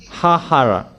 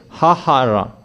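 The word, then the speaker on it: ההרה: Vayenu, vayalu, hahara. So there are double hey here, hahara. H-A-H-A-R-A-H, and they write it as hey, hey, hey. It's like that how they pronounced it.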